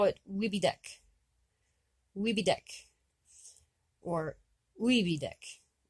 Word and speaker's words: Wibidek: But if you're talking about this one next to it, you would call it Wibidek. Wibidek. Or Wibidek. or Wibitek with a T, sorry.